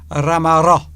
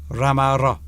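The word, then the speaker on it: ramarro: Ramaro. Yes, I just said to you. I know. What's all right? I'm reading it, Mr. Duncan. Intensify the double final R, and your pronunciation. Ramaro.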